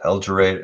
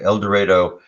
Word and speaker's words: El Dorado: uh see oklahoma el dorado that's how they pronounce it el dorado el dorado oklahoma near the texas border and there was